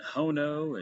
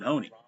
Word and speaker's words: Honea: will be listening to how every announcer tries to come up with pronouncing Honey, Honea, and we've gotten Hono and Hune, it's all kinds of different things. It's Mason Honey.